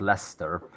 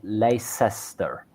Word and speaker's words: Leicester: sure is still watching if you're having trouble with Leicester check out Worcester and gler um sauce they've got the same but Lester also has the Lei